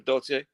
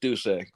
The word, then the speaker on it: Dulce: How do you pronounce her name? Dulce. Dulce. Okay, I've been saying Dulce and Dolce. I'm sorry. So Dulce is the number. I mean, it's the name Dulce. Yes. I have to remember that when I'm speaking about that. So Dulce. Okay, so we got it around. So everybody, her name is pronounced Dulce.